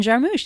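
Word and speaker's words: Jarmusch: Jim Jarmous.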